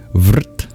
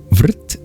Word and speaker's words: vṛtti: Vrit. How do you spell that? It's V-R-T. In Sanskrit, R can be used as a vowel. It's called a vocalic R. Vrit. V-R-T. Vrit means surrounding, enclosing, obstructing